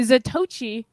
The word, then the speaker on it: Zatoichi: That's actually Zatochi. Or how they pronounce I've been calling him Zato the whole time.